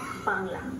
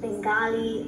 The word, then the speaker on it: Bangla: Bengali stupid babies will happy if you try pronouncing it as Bangla and not Bengali or Bangla is the